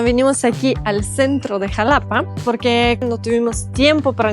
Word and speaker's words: Xalapa: Estoy en Jalapa o Jalapa o se escribe con X.